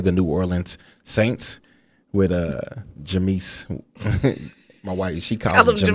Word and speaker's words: Jameis: The Tampa Bay Buccaneers are going to play the New Orleans Saints with Jameis. My wife, she calls him Jameis. I know it's different because I have a friend named Jameis, but I always be saying Jameis, but it's like his name is Jameis.